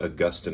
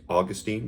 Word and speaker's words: Augustine: share with you about augustine of hippo some will say augustine like saint augustine in florida named after him but most theologians would pronounce his name augustine so um augustin augustine but born 354 died in